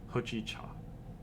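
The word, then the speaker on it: hojicha: of it right so Japanese I think they pronounce it a little bit differently ho chi cha so it's like more true to what it's spelled like in English I guess there's no like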